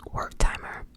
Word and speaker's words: Wertheimer: I think his last name is pronounced Wertheimer.